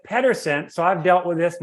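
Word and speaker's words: Pedersen: p-e-t-e-r-s-o-n it's p-e-d-e-r-s-e-n and Americans pronounce it Pederson so I've dealt with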